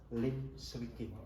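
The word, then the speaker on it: Liem Swie King: main bulu tangkis, yaitu Lim Swee King. Tulisannya L-I-E-N, Lien, terus S-W-I-E, Swee, terus King, K-I-N-G, Lien Swee King. Membacanya Lim Swee King.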